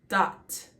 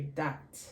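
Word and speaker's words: דת: So we're going to have, it's one syllable, dot. That means law, command, decree, dot.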